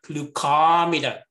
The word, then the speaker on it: glucometer: That is like ology, ometer, glucometer, meter, scopy, logy. You need to stress the syllable before that. Glucometer, cystoscopy. Like neonatologist, you see?